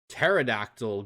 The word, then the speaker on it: pterodactyl: can't you hear a pterodactyl go to the bathroom because the p is because the p is silent ah that's a good